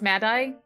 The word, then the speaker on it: Maddie: nikki oh right right maddie's name is pronounced madai i i'm sorry maddie